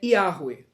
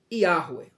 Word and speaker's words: Yahweh: Mas a pronúncia correta do nome de Deus é Yahweh. Yahweh.